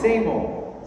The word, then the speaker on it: SAMO: Same old. Same old. It's like same old thing. The same old thing. Same old. The same old. No L.